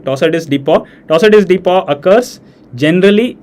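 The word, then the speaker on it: torsades de pointes: a polymorphic VT that's also known as tossus dep okay the French pronunciation tossus dep toss is dep occurs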